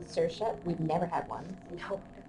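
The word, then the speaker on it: Saoirse: means freedom that's pretty cute a cool name sersa we've never had one no definitely not it's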